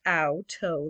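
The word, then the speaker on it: Auto: her first words was outto properly pronounced out toe like you stubbed your toe and capitalized of course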